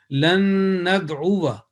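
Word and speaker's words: لَنْ نَدْعُوَ: So the right pronunciation will be lan nad'uwa, lan nad'uwa min dunihi. If you say lan nad'uwa min dunihi, as it is there, it is a possibility without noticing the alif zaida indication on the margin, then that will be against the or not correct pronunciation.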